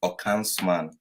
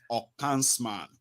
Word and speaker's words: Okansman: By the way, the name is pronounced Okansman. Okansman, great.